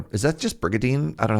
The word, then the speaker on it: Brigandine: New Castlevania, Brigadine. You just don't pronounce the N.